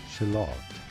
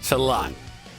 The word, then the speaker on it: shallot: You say it, and British English, it is generally said as British. Shallot. Shallot. With an emphasis on the second. Shallot. In American English, American. however, it is normally said as Shallot. Shallot. In American English, or Shallot. Shallot. British English.